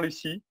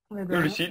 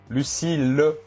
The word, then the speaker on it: Lucile: Bon, bah, merci encore, Lucie. Lucille, oui, c'est mieux. Ouais. Tu vois la prononciation que je disais au début de podcast. Panier piano. Ouais, non, s'il te plaît, non. Lucille, voilà.